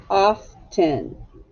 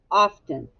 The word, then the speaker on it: often: Well, you might be wondering, why is this a trick word? Often. That's very curious that it's a trick word. Well, I think it's because to my ear, this E doesn't actually sound like an E. It sounds like an I.